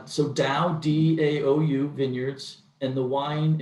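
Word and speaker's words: DAOU: How do you spell it? What is that? It's so Dow, D-A-O-U Vineyards, and the wine is a Cabernet called Soul of a Lion.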